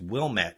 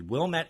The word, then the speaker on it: Wilmette: a little 8-year-old girl in, I think it's Wilmette, if I'm pronouncing it correctly. Wilmette, Illinois.